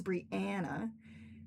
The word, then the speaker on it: Brianna: But most people pronounce my name Brianna. It is Brianna. But that's, most people call me Bri, so it doesn't matter. But, just so you know, it's Brianna, not Brianna.